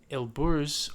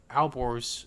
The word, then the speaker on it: Alborz: Then to the north, you have the Elburz or Alborz Mountains, depending on the pronunciation.